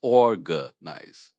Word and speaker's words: organize: Pronounced or gnize. The stress is on the first syllable.